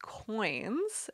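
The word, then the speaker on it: quoins: use what are called coins and it's spelt with a qu so it's qu oh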